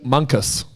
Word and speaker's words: Munkus: Paul Munkus. Yep. Okay. So I didn't know how you go about pronouncing Monkus, and tick that one off.